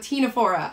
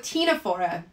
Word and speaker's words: Ctenophora: we're starting out with tinafora ah see i'm getting ahead of myself sorry we're starting out with tinafora and just like the cnidarians that we talked about the sea is silent okay so these are